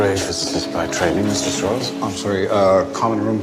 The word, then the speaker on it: Strauss: It's pronounced Strauss. Oppenheimer, whatever way you say it, they know I'm Jewish. I'm president of Temple Emmanuel in Manhattan. Strauss is just the southern pronunciation.